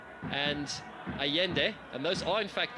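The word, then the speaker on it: Allende: interesting to see it's it's hio Costa and aende and those are in fact the correct pronunciations of those two players names in case you're wondering why I'm not saying Ribera Costa and alende it is aende and hio Costa that is how you pronounce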